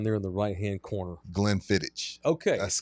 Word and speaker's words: Glenfiddich: So it's Glenfiddich, like it's spelled.